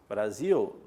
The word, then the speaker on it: Brasil: Brasil, pluvial, o som do L no final sai como U.